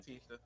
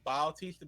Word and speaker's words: Bautista: We But- just say Bautista because in WWE it's spelled Batista, but there's a U between the A Yeah, and the T, Bautista. and it's accurate, Yeah. so we say Bautista.